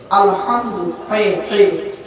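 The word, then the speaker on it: الحمد: আলহামদু গলার ভেতর থেকে এটা উচ্চারণ করে আলহামদু।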